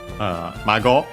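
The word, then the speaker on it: 孫: And yeah, from Mago, which we have seen means grandchild in general. Accent on the last syllable.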